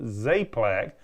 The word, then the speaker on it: Czaplak: spell your last name it's pronounced zlac but you spell it how Gus it's spelled CZ a p l a k that's odd that's